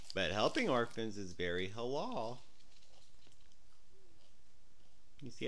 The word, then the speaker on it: halal: We have to learn halal. I know you're in halal. Halal. That means good. Why does it got two syllables? See, halal. Halal. H A L A L.